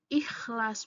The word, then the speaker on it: ikhlas: yang persis sama adalah pelafalan kata ikhlas ikhlas yang sering menjadi ikhlas i jadi yang Betulnya itu adalah ikhlas menggunakan huruf k di tengahnya bukan ikhlas jadi bahasa dalam ragam